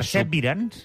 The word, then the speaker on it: Perseverance: Perseverance? Sí, és que s'ha de pronunciar així en anglès.